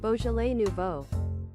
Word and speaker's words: Beaujolais Nouveau: Google says it's pronounced like this. Beaujolais Nouveau.